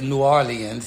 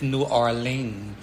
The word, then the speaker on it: New Orleans: who are here is new orleans it's three-syllable but the people who are like not from here is new arlene you know how about